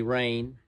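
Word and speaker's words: Rayne: that he actually was his first name is spelled r-a-y-n-e rain sometimes i spell it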